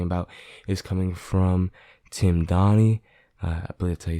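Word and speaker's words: Donaghy: to be talking about is coming from tim donney i believe that you say his name d-o-n-a-g-h-y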